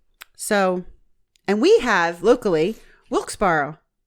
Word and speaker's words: Wilkes-Barre: So, and we have locally Wilkes-Barre.